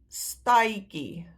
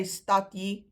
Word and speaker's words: stadjie: Then we've got stad, staitjie. Now, we don't say stadjie, we don't say stadkie, we say stai.